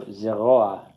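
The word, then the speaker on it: זרוע: So the furtive patach is never accented because it's not a full-fledged vowel. It's just a helper. It just helps pronounce the guttural. So zeroa means arm.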